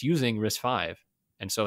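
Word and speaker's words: RISC-V: risk five right the risk v however you want it what is this kind of thing yeah it's risk five is the is the majority pronunciation no it's yeah i've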